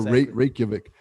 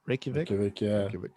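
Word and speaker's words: Reykjavík: felt iceland atlanta atlanta meets iceland yeah or reykjavik i don't know how to pronounce that capital i think you said it right reykjavik but it's cool it's cool to explore the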